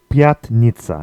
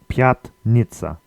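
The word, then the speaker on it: пятница: next we have Friday which is Piat Nitza and it's the fifth day of the week so we call Piat Nitza which is really just the number five followed by Nitza meaning five and I I don't know what Niza means but pianitza is Friday next we have Saturday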